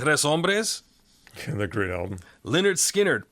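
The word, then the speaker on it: Lynyrd Skynyrd: Leonard Skinnard, pronounced Leonard Skannard.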